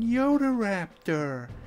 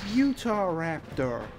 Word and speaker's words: Utahraptor: new direct Yoda Raptor we're using Yoda Raptor nikai can't even say it right it's Utahraptor and we're up against